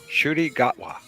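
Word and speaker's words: Ncuti Gatwa: Shooty Gatwa.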